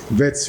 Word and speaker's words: Wits: It's just next to Vets University. I remember the name of it. Vets University hapo tu imeandikwa Wits. but in Afrikaans ni Wits. W is spelled like V.